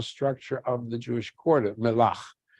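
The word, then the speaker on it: Mellah: of the Jewish quarter, Melach. Melach, M-E-L-L-H, you see it spelled that way as they pronounce it, Melach, they think from the word melach, salt.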